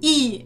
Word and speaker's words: і: of our alphabet is e and it's pronounced like the English double e like sweet C it's a very